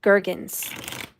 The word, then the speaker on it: Gurgens: A hard G like gurgle. Oh, okay. So Gurgens.